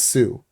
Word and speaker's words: Sioux: But he said it in his language, and in his language, the word for enemy was Sioux. And that French guy wrote down the word Sioux the way a French person would spell it, S-I-O-U-X, and that's still what we call them today.